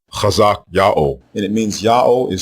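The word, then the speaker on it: חזקיהו: Both forms are pronounced the same way. There are not two or three different ways to say these forms. The way you pronounce the king's name is Chazak Yao, Chazak Yao, and it means Yao is strong.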